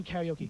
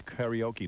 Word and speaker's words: karaoke: karaoke yeah i do karaoke yeah tell hank it's karaoke not karaoke it's karaoke hank there's it's spelled all right karaoke it's a japanese word have you two ever